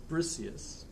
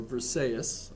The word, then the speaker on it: Briseis: And Achilles' prize is Briseis, or Briseis, I've heard it pronounced too, right?